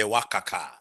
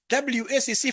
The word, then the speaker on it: WACC: They want us to give them the wakaka, which is a very unprofessional way of pronouncing it. Wakaka. It's supposed to be WACC, Yeah, when you go outside there, don't call it wakaka, please.